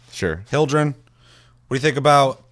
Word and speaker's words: Hyldrin: know in the comments what you think about hildren that's how you say her name sure hildren what do you think about tanks what do